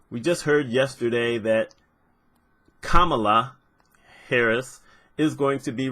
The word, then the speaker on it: Kamala: So I thought everyone was pronouncing her name incorrectly. Turns out it's Kamala.